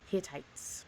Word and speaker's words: Hittites: has informed us that it's pronounced hit I Hittites Hittites great I said it